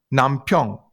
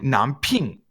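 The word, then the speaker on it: 남편: Like Nampyeong. Nampyeong is how you say husband, but she'll say Namping.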